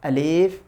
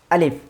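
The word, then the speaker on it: ألف: আলিফ এটা ভুল, বরং আলিফ।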